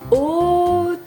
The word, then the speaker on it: autruche: Par contre, le premier, eh ben, il est à côté d'un A. Et là encore, il se prononce O, comme dans dauphin.